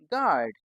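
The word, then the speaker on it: guard: अब इसमें यू जो है वह साइलेंट है। तो इसको तो हमें लिखते वक्त तो लिखेंगे पर जब हम इसको पढ़ेंगे उच्चारण करेंगे इसका तो हमें इसको नहीं बोलना। तो कितना बोलना है बस जी ए आर डी क्या बन गया यह गार्ड ऐसे ही पी आई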